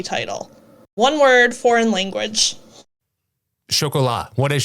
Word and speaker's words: Chocolat: In the second President's Day trivia episode in 2022, one host corrects another on the pronunciation of this movie title. One word, foreign language. Chocolat. What is chocolat?